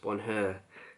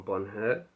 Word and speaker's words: Bonheur: So let's start off with one of the fragrances from the first collection, and that one is Bonheur, I believe it's pronounced Bonheur.